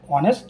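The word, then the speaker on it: honest: এখন এইচ থাকবে কিন্তু এইচ এর মত যদি উচ্চারণ না হয় তার আগে এন বসবে এন অনেস্ট ম্যান an hour and honourable person এগুলোর আগে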